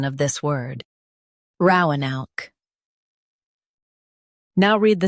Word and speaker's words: Roanoke: Ro uh noke Roanoke Stress ro and keep a noke smooth. Ro uh noke Roanoke Practice repeatedly and you'll soon be able to say this word perfectly.